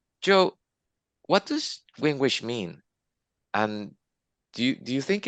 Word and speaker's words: gwiingwiish: And that's how we discovered that Wingwish was the Canada Jay. Did I pronounce that correctly?